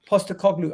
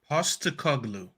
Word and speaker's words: Postecoglou: Postecoglou. I seen David Ornstein. I had to make sure that I learned. Wait, can we learn how to say it together? Can you say that slowly? Postecoglou. Postecoglou.